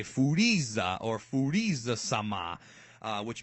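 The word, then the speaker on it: Furīza: a foodies ax so if you watch it in Japanese you hear them say foodies ax or foodies the summer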